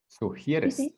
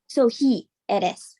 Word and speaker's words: sugieres: Sugieres. Sugieres. ¿Qué That's a hard one. Okay. ¿Qué sugerir? I'm sorry, I can't pronounce it. Sugieres. There. Okay, like Sue, like Sue right here.